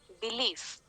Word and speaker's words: belief: stressed similarly in the next word belief again we have b which is the first syllable the second syllable is leave so b is unstressed leaf is stressed okay so if we